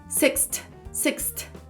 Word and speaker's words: sixth: Porque tem esse som de sixth. É numa respirada só. Sixth.